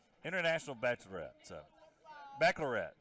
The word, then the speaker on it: Baccalaureate: JCIB, we like to call it, for those of us who can't pronounce it correctly. International Bachelorette. So, Baccalaureate. Baccalaurean.